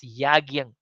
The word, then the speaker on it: yajna: So here the vartha here yajna, it is actually we pronounce as yagyang.